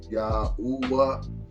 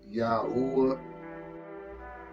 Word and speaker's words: Yahuwah: Okay, Yahuwah. Okay, that's how I pronounce the Most High's name. Most people say Yahweh. Okay, then going along with that, Yah is his son. I say Yahuwah.